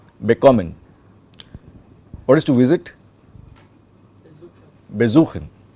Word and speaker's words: bekommen: Okay, there, as you can see while I am pronouncing it, the stress is on kommen, bekommen.